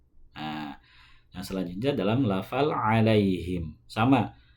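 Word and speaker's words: عليهم: Nah, yang selanjutnya dalam lafal alaihim. Sama, ain dalam lafal alaihim itu di tengah tenggorokan. Alaihim, alaihim, bukan dibaca alaihim.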